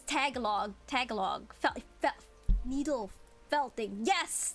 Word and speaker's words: Tagalog: That's a joke on how some foreigner people pronounce tagalog as tagalog. Yeah, it's tagalog.